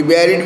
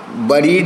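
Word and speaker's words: buried: टू बी बैरिड with, बरीड नहीं है, pronunciation बैरिड है।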